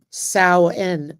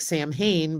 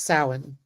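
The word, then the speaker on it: Samhain: It is sen sen, but that's how you pronounce it. It looks like Sam Hayne, but it's sin.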